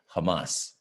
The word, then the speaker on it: Hamas: and that's emphasize on the last syllable of the word hamas okay israel and hamas trade fire traded that's